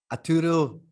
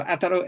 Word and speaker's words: Ataru: I didn't quite get the pronunciation. Arturo Isaka? Ataru.